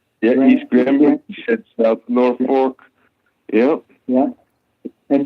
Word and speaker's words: East Granby: Yeah, East Granby, South Norfolk.